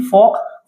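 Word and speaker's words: folk: उसको योक बोलते हैं ऐसे ही फोक फोक क्या होता है लोग जन समूह जनता तो यहां पे भी आपका ये जो एल है ये क्या है? साइलेंट है।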